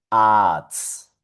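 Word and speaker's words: Arzt: Esto sonaría arts.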